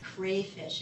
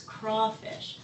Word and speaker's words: crawfish: and Tim Lewis talk about the project, they pronounce this as crayfish. It's crawfish.